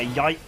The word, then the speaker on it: Yike: But yeah, Yike is how you say it.